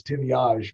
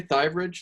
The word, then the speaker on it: Thivierge: french-canadian so it's it's it's actually pronounced the way it's spelled as timiage but uh we americanized it a long long time ago and what do most people say thighbridge like i would have